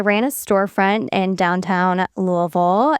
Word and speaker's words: Louisville: it's quicker than saying Louisville to everybody and when they say it wrong cuz they're tourists and they're like Louisville and I'm like, "No, it's like a mouthful of marbles."